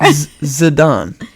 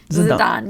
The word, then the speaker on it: Zidane: asking for confirmation on if I pronounce his name Yeah, right. you And said then it you're right. like, whatever. Zidane. Zidane, yeah.